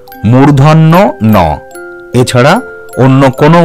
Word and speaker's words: মূর্ধন্য ন: বলবো সেটি হলো মূর্ধন্য ন এই বর্ণটির সঠিক উচ্চারণ মূর্ধন্য ন এছাড়া অন্য কোন উচ্চারণ কিন্তু তোমরা করবে না